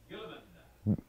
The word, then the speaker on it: Guilliman: Am I saying that right, Matt? Guilliman. All right, that's how you say it.